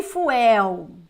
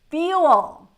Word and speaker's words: fuel: one we don't say fuel no my dear we don't say fuel never ever in your whole life we're gonna say FU we're gonna say Fel Fel guys uh we had